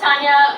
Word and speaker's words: Taña: my name that's R um my name is Tanya Tanya is a pretty common name around